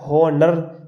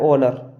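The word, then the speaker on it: honor: जैसे एग्जाम्पल ये लिखा है HONOUR, क्या हॉनर दिख रहा होगा, पर हम इसे हॉनर नहीं पढ़ते हैं, ज़्यादातर लोग इसे हॉर्न नहीं पढ़ते हैं। ये लिखा है ऑनर, क्योंकि अगर आपको ओ से पहले एच आया साइलेंट।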